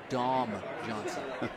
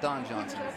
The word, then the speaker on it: Dom Johnson: gonna be number six dom johnson so let me pronounce that real real clear dom johnson that is not don johnson from miami vice that is dom johnson so assignable awaits the